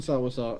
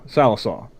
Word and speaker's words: Sallisaw: the articles specifically mentioned sawaso and then sawaso came back and went hol hold on hold on pronounce it like an oaky sal er saw sallisaw so it not